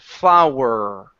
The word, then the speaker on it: flower: So push the sound back down here, flower.